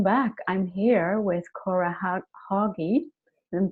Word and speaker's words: Hagi: I'm here with Cora Hagi. Am I pronouncing that okay? Huggy, yeah.